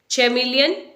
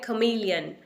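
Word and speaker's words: chameleon: चैमेलियन या कैमेलियन? ना ही तो हम इसे चैमेलियन बोलेंगे ना इसे कैमेलियन बोलेंगे। इसकी जो करेक्ट प्रोनाउंसिएशन है वो है खमीलियन, खमीलियन, खमीलियन यानी गिरगिट।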